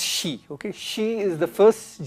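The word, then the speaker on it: Xi: It's pronounced she, okay?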